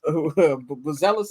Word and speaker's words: Buzelis: Buzelis, as he pronounces it.